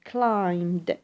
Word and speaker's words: climbed: notice the pronunciation is climbed we do not pronounce the b since B sound here is silent so has climbed to 3% why have